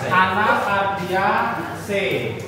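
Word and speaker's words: Anacardiaceae: family anak dia cai Bacanya C ya. Anacardia C. Anacardia C.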